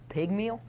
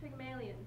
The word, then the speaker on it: Pygmalion: Pygmeal? Pygmalion? It's pronounced Pygmalion.